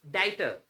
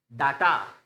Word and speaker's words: data: नाउ इट्स डाइटर, डाइटर, डाई। जो DAY का pronunciation होता है ना, इसका प्रोनाउंसिएशन तो होता है वो डाई, डाई, डाई। और इसका मतलब टे के आगे ए का साउंड, डाइटर, डाइटर, डाइटर। नाउ डाटा, डाटा गलत होता है, डाइटर।